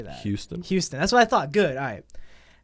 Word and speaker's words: Houston: Houston.